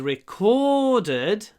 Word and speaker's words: recorded: And it was recorded, ударение на втором слоге, recorded, it was a record.